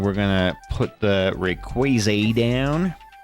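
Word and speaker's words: Rayquaza: It's pronounced Rayquaz for those that don't know. I know you guys are always giving me about how I pronounce Pokemon names, but I say Rayquaz cuz he's like crazy, right? Ray Crazy.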